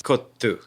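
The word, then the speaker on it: kottu: So very the way worried it about says mispronouncing. It's kotu.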